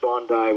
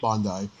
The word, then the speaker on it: Bondi: It's it's pronounced Bondi, which is Bondi, famous.